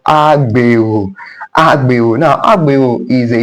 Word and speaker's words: Agbero: Now, they are called Agbero. These are people that actually load people. You understand, they call people. That's why the word is pronounced agbe, like agbero.